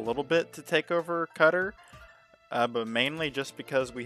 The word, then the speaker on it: Qatar: i took over qatar or how do you say it qatar quaytar i don't really remember you know people will be angry about that probably isn't that cutter no it's called cutter that's how you say